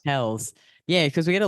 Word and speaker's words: Pelz: Mindy Pelz. Pelz.